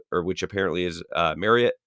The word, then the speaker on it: Marriott: which apparently is uh marriott is how you say that like chariot um i don't know